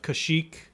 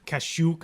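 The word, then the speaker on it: Kashyyyk: the Wookiee planet of cash eek yeah where ever you spell it's like ka shyy YK cash ook I've heard cash iiiiii and so wookies have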